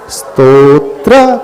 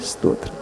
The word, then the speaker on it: स्तोत्र: है सही क्या है स्तोत्र तोत्र बोलो तोत्र नहीं तोत्र बोलो हां उसके आगे आधा स लगा दो वेरी सिंपल हां बहुत सरल तरीका है नहीं समझ में आ रहा तो बोलो उसके आगे उच्चारण अच्छा आधा स जब स जब बोलते हैं तो इ आ जाता है तो इ को साइलेंट कर लो ना अंदर ही अंदर बोलो इ स्तत्र सही तरीका है स्तोत्र स्तोत्र इ पहले बोलना तो